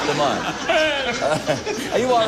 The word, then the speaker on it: Demond: are the next interesting turnab about John uh Demon Wilson that's M come back come come mind